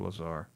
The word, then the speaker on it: Lazar: We're talking about Lazer, Bob. Yeah. What about Bob? Is that how you pronounce it? Is it Lazer or Lazar? Lazar.